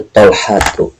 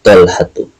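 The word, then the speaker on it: طلحة: Kalau ada nama laki-laki bertak marbutoh, dia tidak boleh bertanwin. Contoh, tanpa tanwin mah bacaannya atau dibacanya Khalidun, Muhammadun, Mahmudun. Tapi kalau misalkan Talha, Hamzah, dan beberapa nama bahasa Arab yang bertak marbutoh, dia tidak boleh bertanwin. Jadi bacanya Talhatu, hadza Talhatu.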